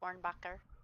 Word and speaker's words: Hornbacher: I want to say Hornbacher. Yeah, pretty much. Hornbacher. Probably a little softer on the H, so Ornbacher.